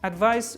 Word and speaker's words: advice: end of these words advice with i c e at the end as like ice ice cream pronounce it ice remembered like this and